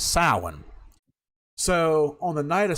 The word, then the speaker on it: Samhain: ago, Through the Doorway, where we thought we were pronouncing the word properly throughout the years, Samhain, but it's actually pronounced as Samhain.